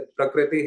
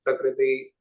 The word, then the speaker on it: प्रकृति: इस प्रकार से जो ऋ वर्ण है उसका उच्चारण व्यक्ति क्या करते हैं? जैसे प्रकृति है तो उसको प्रकृति कहेंगे। तो यह ऋ का रूप भी यहां नहीं करना है। सामान्यता जो री है वही पढ़ना है।